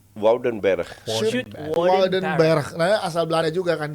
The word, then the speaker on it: Woudenberg: Wouden OU itu AU.